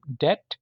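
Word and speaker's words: debt: बी वाले अल्फाज हैं डेट डेट का मतलब है कर्जा इसमें भी देखें बी आपने नहीं बोलना डम बेवकूफ या गूंगा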